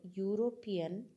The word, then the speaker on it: European: is not coming okay it sounds like u y uropean here next one eyed